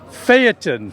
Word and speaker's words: phaeton: a 1934 ford phantom how do you pronounce it phaeton phaeton and what does that